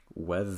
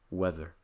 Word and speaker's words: whether: press it too strongly to give an example of this take the word whether whether there would be the standard pronunciation but when pronounced quickly the tip of my tongue will not move past my top front tooth it will sound like weather weather compare weather weather and weather weather again to do